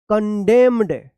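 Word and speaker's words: condemned: डी ई एम एन ई डी क्या पढ़िए कंडेम्ड कंडेम्ड यहां पे भी एन क्या है साइलेंट रहेगा एच वाई एम एन क्या पढ़ेंगे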